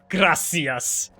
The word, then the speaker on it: gracias: Gracias! Like a really... Gracias! No, just gracias. Gracias. You don't even roll the R.